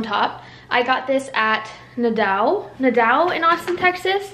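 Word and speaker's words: Nadeau: And then this little piece right here, where my Kindle is on top, I got this at Nadau in Austin, Texas. It's spelled N-A-D-E-A-U.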